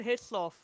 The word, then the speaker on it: Hislop: Mm, I can't Hislop. pronounce his name correctly, but we'll Like call him how you say Dunlop. It's his and then lop.